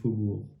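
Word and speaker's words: faubourgs: faire remarquer que ici le S c'est un S final de du pluriel donc ne se prononce jamais et le G avant ne se prononce pas non plus hein donc on a bien fauour le troisième mot c'est vu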